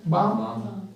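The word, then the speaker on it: balm: फम थोड़ा बड़ा देखो बी ए एल एम एल को साइलेंट कर खा बाम है ना बा है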